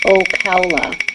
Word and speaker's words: Ocala: Jenny says it's Ocala. Ooh. Did she put it in how to pronounce it mode? Kind of. She spelled it like a cow and then Ola.